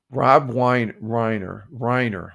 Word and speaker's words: Rob Reiner: I got to see his name to pronounce it right. Rob Reiner with an R.